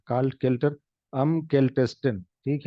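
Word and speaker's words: kältesten: काल्ट केल्टर, केल्टेस्टिन, ठीक है। और अभी यहाँ पे देखिए ई एक्स्ट्रा क्यों आया? क्योंकि अगर हम नहीं लगाएंगे उसका प्रोनाउंसिएशन हो जाएगा मुश्किल, इसलिए लग गया।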